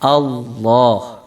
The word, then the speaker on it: Allah: oleh Rasulullah Shallallahu Alaihi Wasallam tidak seperti itu membacanya tetapi allohu allohu allohu ya jadi suaranya tebal ya dengan